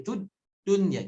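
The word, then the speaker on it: الدُّنْيَا: Jadi jangan mati, tud dunya, jangan mati. Tapi ditahan, tud dunya. Itu disebut dengan nabroh.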